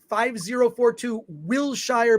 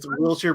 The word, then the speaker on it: Wilshire: Wilshire Boulevard, PMB 1500, Los Angeles, California, 90036.